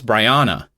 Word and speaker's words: Bryanna: I pronounced it because she did write in her email how to pronounce her name, B-R-I as in bright, so Bry, and then on as in on, and then na as in banana. So I think it's Bryanna, I think is what it is.